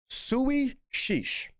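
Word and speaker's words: Suidh Sìos: Apparently, it's pronounced Sui Sheesh, which apparently I think it means sit down.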